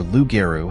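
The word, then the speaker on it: loup-garou: Does lugaru rhyme with rugaroo? pronounced lu g- a ru and r u g- a ru respectively. These words rhyme with each other because rugaroo is the variant of French lugeru.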